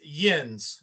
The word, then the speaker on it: yinz: So the Ohio one is yins, and it's spelled Y-N, either S or Z, however you want to put it.